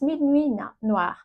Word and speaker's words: Minuit Noir: It's Minuit Noir.